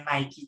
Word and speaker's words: Nike: ya karena pengucapannya sama Nike tulisannya dengan tulisan Nike tapi dibacanya naiki juga itu sama Nah itu nggak